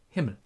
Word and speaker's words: Himmel: did just now, but you just call him Himmel. And then we have one name that I noticed is pronounced not that great by most people, and